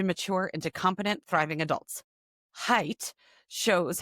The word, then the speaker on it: Haidt: In the anxious generation, social psychologist Jonathan hate. Oh, pronounced height. Look, it's right there. It was in the blurb. Ah, look at that. We've been pronouncing it wrong this whole time.